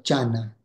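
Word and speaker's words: jhāna: pronunciava la parola meditazione in sanscrito che si pronuncia Diana il Pali in pali si pronuncia Giana è una pronuncia un po' diversa e il Buddha avendo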